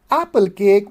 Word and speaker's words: apple cake: But apple cake with stress on the left one.